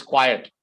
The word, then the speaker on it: quiet: quite quiet quite quiet there are two different pronunciations one is quite here it is quiet okay quiet okay quite